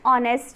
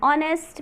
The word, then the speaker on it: honest: He is not dash honest man. Now here H is silent, it makes sound so we use an. He is not an honest man.